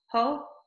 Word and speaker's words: Ho: All right, how do you say your last name? Is it Ho? Yeah. Oh. It's only two letters. Yeah. You never really know. I always say Ho like Christmas, like ho, ho, ho.